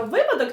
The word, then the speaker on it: випадок: Отож, Кароліночка, випадок чи випадок?